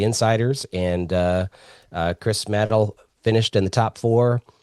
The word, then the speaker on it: Madel: Uh Matt rhymes with battle. Nailed it. You nailed it. It rhymes with battle.